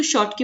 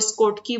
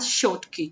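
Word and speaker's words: Schottky: की डिफेक्ट्स पढ़ते हो, इसको शॉर्ट की प्रोनाउंस करना है, ठीक है। कोई स्कॉट की बोलता है, कोई कुछ बोलता है, तो बाकी तुम्हारी मर्जी, तुम जो मर्जी बोलो। इट प्रोनाउंस एज शॉर्ट की, ठीक है।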